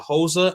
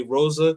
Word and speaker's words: Rosa: Portuguese is actually uh HOSA in English we say Rosa so uh what I do know is that uh Portuguese the r's are pronounced like H's so uh I'm learning